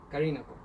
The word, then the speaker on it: Callinago: Si usted se fijó, aquí si leemos español, dice Callinago, pero yo cambié esa pronunciación por lo que es correcto. En francés se supone que esto se lee hasta doble L como una L.